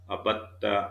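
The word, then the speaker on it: عبدتّ: Uh, you remember the expressions of abada, abadu, abatta, abattu, abattum, abat, abadna. And I also explained that there is a little variation because it is difficult to pronounce dal here, so it becomes abatta is additional here.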